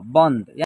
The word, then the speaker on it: बंद: ब के ऊपर क्या है, अन की मात्रा है, तो यहाँ बन द बंद।